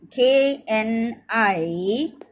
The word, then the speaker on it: knives: In place of N-I-F-E-S, we should write the K-N-I-V-E-S, knives. K is silent, knives, K-N-I-V-E-S.